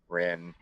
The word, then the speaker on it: Rin: and your name not rhymes with kin, Rin.